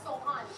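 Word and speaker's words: سوهان: It's Sohan.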